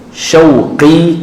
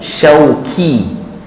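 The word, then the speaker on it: شوقي: Kalau syauq rindu, syauqi kerinduanku, syauqi duriku. Orang tak ada nama duri, orang nama syauqi, qaf, syauqi. Tapi orang Melayu panggil syauqi, kaf.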